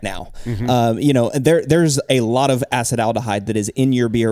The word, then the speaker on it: acetaldehyde: So next off flavor that we're going to talk about, you already mentioned it once, Cade, is acetaldehyde, which is not pronounced acetaldehyde. It is acetaldehyde.